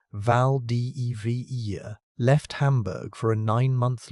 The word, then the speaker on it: Valdivia: In 1898, a German steam ship called the Valdivia, pronounced Vald de Vera, left Hamburg for a 9-month loop through the Atlantic, the Southern Ocean, and the Indian Ocean.